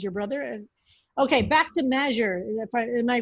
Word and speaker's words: Magyar: Okay, back to Magyar. Am I pronouncing that correctly? The Hungarian sociologist? Magyar, yeah.